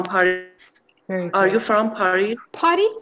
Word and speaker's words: Paris: Paris تلفظش نمی‌کنیم.